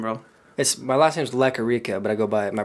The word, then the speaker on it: Lequerica: I don't know how to pronounce his last name, bro. My last name's Lequerica, but I go by my producer name's Leque.